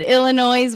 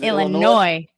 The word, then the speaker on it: Illinois: the S is solid the S is silent my dad always says there's no noise in Illinois which is a lie